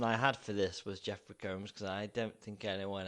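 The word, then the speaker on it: Jeffrey Combs: two one is obviously Jeffrey comes yeah is how he pronounce his name yes terrible the names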